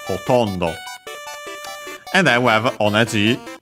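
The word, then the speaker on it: ほとんど: Hotondo. We have found it before. It means almost, nearly, mostly, practically. An adverb. Accent on the to, so hotondo.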